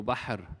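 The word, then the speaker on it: بحر: wrote it bahar actually there is no the sound ha in english um it is very similar to etch but is coming from this the chest while ha is coming actually from the throat so bahr not bahar the second example bait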